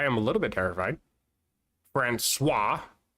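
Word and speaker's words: François: Franuis, it's got a little funny mark underneath the sea, so it's pronounced swah.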